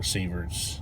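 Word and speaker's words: sievert: Now, here's our chart, and I do have it set on micro severs. That's how you pronounce that, right, Alex?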